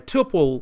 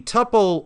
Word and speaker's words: tuple: we return a tle a tuple or Tuple tle how different people pronounce it differently a tupple of an atom okay